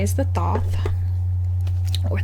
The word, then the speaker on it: Thoth: The one that's most recent, I would have to say, is the Thoth, or the Thoth, or the Toth, or the many other pronunciations.